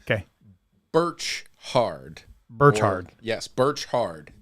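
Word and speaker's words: Birchard: Birch hard bertard yes Birch hard Birch hard like a tree orchard is probably how it was pronounced but it's Rutherford hey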